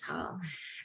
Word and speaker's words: Haugh: Looks like Haugh or Hoff. There's different ways of pronouncing your last name, but it's Haugh.